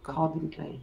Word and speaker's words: Calvin Klein: Calvin Klein. Yeah, aquí pronuncia Calvin y acá con la A, Klein.